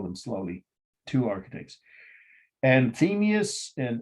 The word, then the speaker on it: Anthemius: the architects i'll spell them slowly two architects and themius and isidorus that's a-n-t-h-e-m-i-u-s and the second word